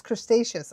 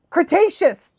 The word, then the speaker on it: Cretaceous: I have it in my head that it's crustaceous. I can't get it out of my head now. I know you guys are like, oh, that's not what it's, how it's pronounced. And I'm like, damn it, but it's in my head like that. Cretaceous. Thank you. I appreciate that. Cretaceous.